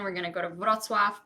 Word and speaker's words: Wrocław: We're going to go to Wrocław, Poznań, Torun. Sorry, those are very Polish sounding words, but I'm Polish, so that's how I'm going to pronounce them.